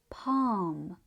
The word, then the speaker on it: palm: The L is silent, but it changes the vowel sound, making it longer and deeper. This also happens in words like calf and palm.